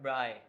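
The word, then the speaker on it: braai: watch sports while eating bra, right? Is am I pronouncing it right? Bri. Yeah. Bri. Yeah. So in Africans you'll you'll use the for R like um Bri.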